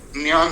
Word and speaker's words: ज्ञान: उच्चारण बहुत शुद्ध करते जसे आपने एक शब्द पढ़ा होगा ज्ञान ज्ञान जो है व ज से शुरू नहीं होता उस शब्द का उच्चारण ज है ही नहीं व बोलना ही बहुत कठिन है जैसे हम कहते यज्ञ तो यज्ञ नहीं होता है यज होता है ज्ञान नहीं होता है जन होता है ऐसा शुद्ध संस्कृत अगर